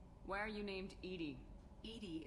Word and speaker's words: EDI: Edie is the phonetic pronunciation of EDI. That is an acronym for Enhanced Defense Intelligence.